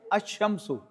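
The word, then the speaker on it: الشمس: Now add to your vocabulary. The sun is ashamsu and the moon is alamaru. Now they both have in the beginning. But you find in the Quran like this. A shamsu kamaru. Here the lamb has been pronounced but in this case lamb has not been pronounced.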